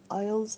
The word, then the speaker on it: aisles: Aisles are the corridors at the supermarket. Aisles. S is silent, so it's aisles.